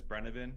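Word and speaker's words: Brennivín: well I mean it's the actual name is brennabin it's a type of Aqua bead but it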